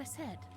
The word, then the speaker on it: Aesop: I heard Isa, but I think it's pronounced Aesop. Well, whichever. I've heard it the one way, Aesop. And I've heard it Isa, so. Depends on the dialect you want to use. Both versions are correct.